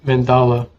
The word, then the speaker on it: mandala: I think it's That's Mandela or Mandala. Mandela? Okay. Mandala. Like you're saying man, and then Dala.